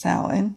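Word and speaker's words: Samhain: future no longer dims the ancient Celts used to call the time of the longest night of the year soin pronounced salhan mm-hmm they believed that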